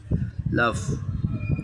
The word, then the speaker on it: laugh: এর লাভ, LAUGH, লাভ, নট লাভ। লাভ মানে ভালোবাসা, আর লাভ মানে LAUGH, উচ্চারণ হচ্ছে লাভ।